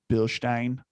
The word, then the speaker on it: Bilstein: to i'm going to pronounce it in its proper german ways of bill stein matt that's why i